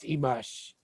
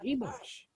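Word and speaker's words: Imax: But he said it comes from the Mayan word Imash, pronounced Imash, but spelled, if you know Mayan, I-M-A-X, pronounced Imash.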